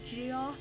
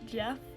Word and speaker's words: Geoff Emerick: Hi, editor me here, just to say that I pronounced the name Geoff Emerick as Geoff and not Jeff the entire video.